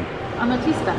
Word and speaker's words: Amatista: name right how do you say it Jen a matista amatista we figured it out it is a